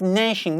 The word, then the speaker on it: gnashing: It is G. It means gnashing. We pronounce like gnashing.